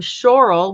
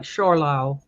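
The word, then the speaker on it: Zschorlau: forgive my pronunciation I'll I'll spell it Zs c h o r l Au U so it's kind of like shorl and this is also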